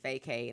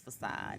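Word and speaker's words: façade: started this journey man a lot of people was calling it fake hate i'm like it's facade it is a i believe a french word oh yeah that's how you spell that word we should thought it was fake no but yeah y'all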